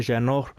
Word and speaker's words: Jeannot: Tanner Jeannot. Actually, that's not how you say his name. Tanner Jeannot scores on Ilya Sorokin.